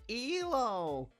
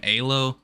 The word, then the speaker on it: Elo: in their own pronunciation of the word it's pronounced elo but but but how do you actually know that look okay i say elo i'm not gonna like give him for saying aylo but like i just uh i first heard